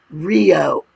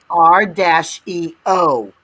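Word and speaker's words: REO: says it right there rather than pronouncing Rio as a single word as the mo Motor Company did they chose to spell it out r- EO I'm pretty sure if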